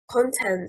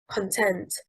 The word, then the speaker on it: content: Content, stressing on the first syllable, means cheerfulness and is a noun. Content, stressing on the second syllable, means to satisfy, and it is a verb.